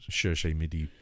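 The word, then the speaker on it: Cherche-Midi: and ended up in the how do we pronounce that, Nick? Cherche Midi. Cherche Midi in Paris, which became very, very infamous towards the end of the war, with resistance fighters being there, etc.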